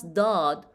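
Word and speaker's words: ض: Just to remind everyone, we pronounce Daad as deep, D, d, d, d. So how we pronounce Daad with fatha over it?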